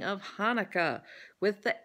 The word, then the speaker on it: Hanukkah: and then there's the Hebrew letter that says Ch. So it's Hanukkah. You know, like you've got phlegm in the back of your throat that you're trying to dislodge.